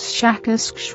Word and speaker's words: Shakask: of your human letters, something like Shakask, with a very strong pronunciation of the SH and K sounds.